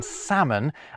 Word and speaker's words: salmon: They would have never to be pronounced B in plumber, a mute C in indict, a ludicrous L in salmon, and a stupidly silent S in isle.